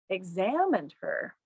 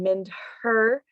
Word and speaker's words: examined her: The H sound kind of disappears. I'm not saying mind her.